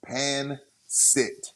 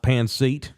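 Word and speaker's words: pancit: it's and it's called It's pronounced pan sit pan thank you not pan SE now is it lpia or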